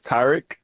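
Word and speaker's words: Tarik: I mean, the actual pronunciation is Tarek, like the A in Apple, but I stopped really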